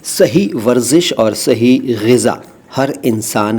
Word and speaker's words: ग़िज़ा: अगला शब्द है ग़िज़ा। देखो, मैं ग़िज़ा कह रहा हूँ, गिजा या गिज़ा या ग़िजा नहीं कह रहा। इसका उच्चारण ख़ास तौर से ध्यान से बोलिए कीजिएगा।